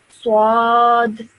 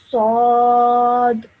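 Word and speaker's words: ص: So you should not say swad. Okay, that's wrong. It should be a simple swad.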